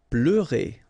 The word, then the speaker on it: pleurer: Pleurer. Okay, remember here you've got this E and U, it's E. Pleu, pleu, and then RE. Pleurer. Répéter.